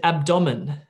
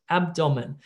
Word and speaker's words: abdomen: English test, and there's a medical word, abdomen, right? Your abdomen. But what do you say? What about if I said abdomen, abdomen? The computer's going to not get that because a part of pronunciation is also correct word stress, abdomen.